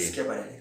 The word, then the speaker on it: Schiaparelli: Por ejemplo, Percival Lowell, con el tema de los canales de Marte, o Schiaparelli, no sé cómo se pronuncia. Schiaparelli. Schiaparelli, correcto.